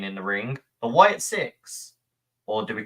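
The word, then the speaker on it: Sicks: the ring, the Wyatt Six. Or do we call them Six? It's 6. Yeah. It's sick, but it's pronounced It's like pronounced six.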